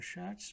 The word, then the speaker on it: Schatz: TZ wird wie Z ausgesprochen. For example, in here is TZ and at the end the shuts. T is silent here. The shuts. Okay. The Platz. So the Schatz meaning treasure.